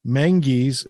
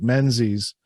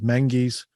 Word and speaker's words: Menzies: It is the story of Sir Stuart Graham Menzies is how you pronounce it. It looks like Menzies, but you pronounce it in their vernacular as Menzies.